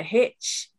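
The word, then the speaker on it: Hiz: Hitchin has a river running through it, the Hitch, spelled H-I-C, I believe, pronounced Hitch.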